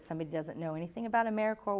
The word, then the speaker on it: AmeriCorps: doesn't know anything about AmeriCorps when they call them a mere corpse the S is silent and it's it's really